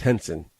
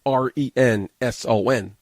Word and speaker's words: Renson: Now, Henson, she specifies it's pronounced Henson. It's spelled R-E-N-S-O-N. To me, that's Renson.